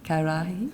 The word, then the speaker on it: ka arahi: 11 Toi Tū Toi Ora ka arahi, have I pronounced? Karahi, yeah, you know what that means.